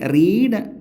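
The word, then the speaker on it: read: ആ ബുക്ക് വായിച്ചിട്ടുണ്ട് ഇവിടെ റീഡ് എന്ന വെർബിന്റെ വി ത്രീ പാസ്റ്റ് പാർട്ടിസിപ്പിൾ ആണ് ഇവിടെ ഉപയോഗിച്ചിരിക്കുന്നത് റീഡ് റെഡ് റെഡ് സ്പെല്ലിം ഒന്ന് തന്നെയാണ് പക്ഷേ അതിന്റെ പ്രൊനൻസിയേഷൻ അതിന്റെ ഉച്ചാരണം റെഡ് എന്നാണ് എന്നുള്ള കാര്യം പ്രത്യേകം ശ്രദ്ധിക്കണം ട്വൈസ് രണ്ടു പ്രാവശ്യം വൺസ് എന്ന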